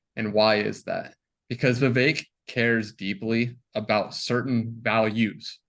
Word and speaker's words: Vivek: here so um you guys wanted your founder Vivek ramashwamy I pronounced his name correctly is that right I always have a hard time with his last name but bake like cake Vivek ramaswamy so he is now running for president